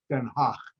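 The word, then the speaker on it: Den Haag: called the hague that's the american way the dutch way for that name is denha and i stayed in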